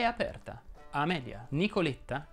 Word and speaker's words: Nicoletta: è aperta alla media nicoletta che è un diminutivo si pronuncia con la è chiusa nicoletta elettra invece vuole la